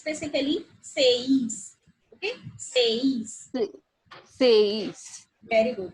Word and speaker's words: seis: Okay, because as I told you, E is pronounced as like A and I is pronounced as like E. So the flow is something like, you can see AE. Seis.